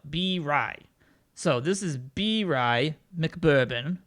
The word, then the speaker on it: Birai: I think it was B-Ray. Was it B-Ray? No, B-Rai.